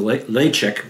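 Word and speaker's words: Ledaig: uh uh non-ed uh variety and then the leek which I'm I'm pronouncing properly but it's spelled l e d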